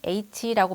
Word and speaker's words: H: 우리는 대부분 이 글자를 H라고 발음을 해왔죠. 하지만 틀린 발음입니다. 이 글자를 발음하기 위해서는 두 가지의 소리를 빠르게 연결해서 발음해야 해요. 먼저 오늘 제일 첫 번째로 배웠던 알파벳 첫 글자인 A를 발음한 다음에 곧바로 취로 연결해서 H 하고 발음해야 하는데요. 이때 주의할 점은 취를 발음할